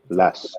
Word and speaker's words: LASK: Lask, yeah, Lask.